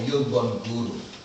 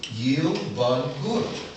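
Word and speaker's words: Yielbongura: My favorite Dagara word is a word called Yilbun Guru. I want to spell it for you so you can get a picture, because I'm literate like that too. Yep. Y-I-E-L-B-O-N-G-U-R-A. Yilbun Guru.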